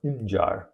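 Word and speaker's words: Mġarr: The G in this name has a dot above it. It's hard to see, but it's there, and it's pronounced J.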